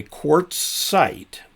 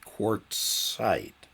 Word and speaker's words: Quartzsite: By the way, Quartzite is spelled QUARTZSITE, Quartzite.